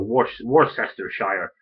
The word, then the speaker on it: Worcestershire: Pronouncing anything humorously. I mean, okay, so you've got the Shire, so Leicestershire or Worcestershire.